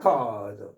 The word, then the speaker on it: record: rec record rec 명사일 때는 앞에 강제 있고 rec 동사일 때는 뒤에 강제에 있어서 명사일 때는 아 동사일 때는 뒤 명전 동우 별다른 건 아니에요.